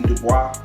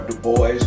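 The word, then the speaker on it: Du Bois: of folks led by w.e.b dubois or the boys depending upon where you from or how you like to pronounce that um so he was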